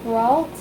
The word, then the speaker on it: Brault: Second position, again 3-year term, budget committee, Holly Brault. Excuse me if I didn't, is that how you pronounce her last I think, name? yep. Brault? Yeah, bro.